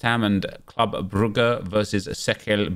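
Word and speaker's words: Cercle: We've got Chelsea versus West Ham and Club Brugge versus Sekel Brugge. I now know, thanks to Yaya Toure, that's how to say their name.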